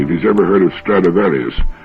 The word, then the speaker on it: Stradivarius: he's ever heard of stradivarius which is the latin pronunciation of the name throughout history there have